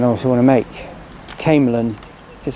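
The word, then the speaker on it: Camelon: Yeah, so a little pronunciation correction I also want to make. Camelin is how you say it, not Camlin. Camelin, in between Stirling and Falkirk Grahamston on the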